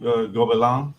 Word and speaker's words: Gobelins: Okay, so there's this school called Gobelin, or it's spelled Gobelins.